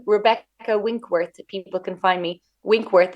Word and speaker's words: Winckworth: you know you're everywhere with my name Rebecca winkworth people can find me winkworth is actually spelled with the ckw-i-n-c-k-w-o-r-t-h or you guys in the